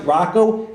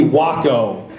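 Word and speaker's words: Rocco: my first name but he doesn't even pronounce it Rocko he calls me Waco so when I when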